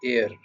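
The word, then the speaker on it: heir: For example अगर एक word है एयर, ठीक है, एच ई आई आर जो है उसकी प्रोनाउंसिएशन होती है एयर, जो कि बारिश को कहते हैं।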